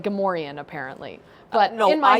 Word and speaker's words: Gamorrean: And it's like Gamorrean, apparently. But no, in my head... I just pronounce it Gamorrean.